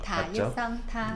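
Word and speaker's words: 他: 물건을 뜻하는 그 타도 따로 있는데 일단 발음은 다 똑같이 타. 타, 네, 타 일성 타.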